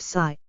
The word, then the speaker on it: psi: A Greek letter pronounced psi, a wave function and a psi function are the same thing.